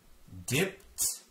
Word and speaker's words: dipped: the avonlea main road dipped dipped makes a t sound dipped dip vip dip